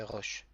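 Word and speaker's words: ראש: Resh plus le holam, ça fait ro. Il y a un aleph avec absolument rien. Donc, il sert juste à prolonger le son ro, roche. Et enfin, on a la troisième lettre, c'est un shin avec le point en haut à droite qui indique bien que c'est un shin et pas un sin. Et il n'y a pas d'autre ponctuation. Donc le mot en entier, ça fait roche.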